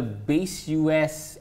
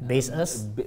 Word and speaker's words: Baseus: So this is the Base US. How do you pronounce that brand? Baseus.